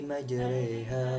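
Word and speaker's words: مجراها: Huruf ro pada kata majroha disebut malah ro. Cara membacanya dengan harokat yang dekat pada kasroh tetapi bukan kasroh. Jadi cara membacanya Bismillahi majreha wa mursaha.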